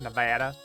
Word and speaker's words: Nevada: just like, no, you Nevada. you're saying it wrong. It's Nevada.